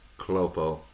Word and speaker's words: Cluppo: if there's other you know other stuff by clopo um make sure I get that right otherwise